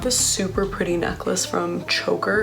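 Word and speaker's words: Chvker: But I have this super pretty necklace from Choker. It's spelled C-H-V-K-E-R though.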